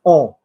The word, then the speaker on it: on: And on, you're going to say in the French way, like on, like we. Say for me, on. On. No, it sounds like an English person from Yorkshire saying on. Say for me, on. Make it vibrate in the nose, on.